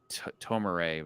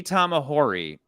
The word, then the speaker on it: Tamahori: and Lee tamahori and you keep saying tomorrow which is hilarious Lee Tom ahori his you know pronunciations